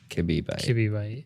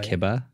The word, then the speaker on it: kibibyte: It's K-I-B-I, if that helps. Kibibyte. But it's pronounced kibba. I've heard it said both ways.